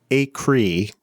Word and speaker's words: Acree: Acree. Yes, that is the right pronunciation.